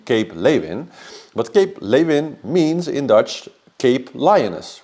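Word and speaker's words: Cape Leeuwin: it is actually pronounced Cape lein because that's a Dutch name it's a Dutch word it was named by the Dutch we Dutch were there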